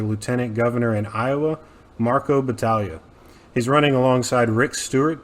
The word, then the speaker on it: Battaglia: Now, if you want to restart, it's Battaglia, technically. Battaglia. Okay. Yeah, I wasn't sure. Wasn't sure if I was going to get that that right or not. Nah, some people, I think, do pronounce it the other way.